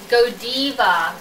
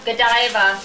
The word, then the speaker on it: Godiva: the ice cream and it's pronounced godiva okay not godava godiva oh you go here